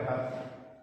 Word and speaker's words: ejad: La palabra ejad es singular o plural. Ejad, así como lo escucha, E-J-A-D, ejad.